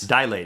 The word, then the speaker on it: dilate: 2 syllables. Dilate. It is not dilate. It is dilate. Not 3, it's 2.